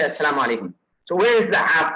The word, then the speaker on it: assalamu alaikum: The proper way is assalamu alaikum. Assalamu alaikum. So that's the proper pronunciation of that.